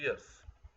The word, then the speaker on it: years: इसे प्रोनाउंस करते हैं ईयर्स, नॉट ईयर्स। अक्सर बच्चे इसे ईयर्स प्रोनाउंस करते हैं। ईयर का मतलब कान होता है, ये है ईयर्स। आई एम 15 years। य की साउंड आनी चाहिए।